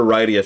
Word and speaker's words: Rydia: I mean, I called her Rydia for years, but they have pronounced it. It is Rydia.